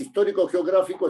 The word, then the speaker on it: histórico-geográfico: Entonces, si usted lo escribe junto, es histórico-geográfico, es una esdrújula, porque el acento está en gra, histórico-geográfico.